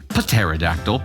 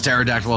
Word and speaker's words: pterodactyl: or hailing with the pterodactyl that's right we pronounced the P here pterodactyl Kaden Thunder has the